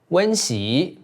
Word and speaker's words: 温: Remember, "wen" (温) needs to be pronounced with a tone change.